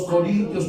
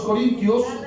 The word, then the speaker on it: Corintios: dice carta de los corin a a los corinos alguien escri para ellos las epístolas a los romanos Sí luego primera y segunda carta a los Corintios que viene a los Gálatas Efesios Filipenses colosenses